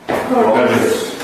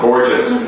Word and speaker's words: gorgeous: Say this. Gorgeous. Gorgeous. Gorgeous. It's a j sound. Gorgeous.